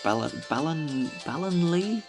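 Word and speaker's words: Ballonlea: Turfield, the mysterious beauty of the woods of Ballinlee? That's how it's pronounced.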